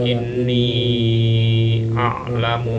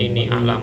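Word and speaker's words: إني أعلم: Qala inni a'lamu ma la ta'lamun. Dibacanya panjang, bukan ini a'lamu seperti lil malaikati qalu.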